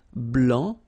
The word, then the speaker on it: blanc: form here okay so here masculine blah don't pronounce the final c and then blanche okay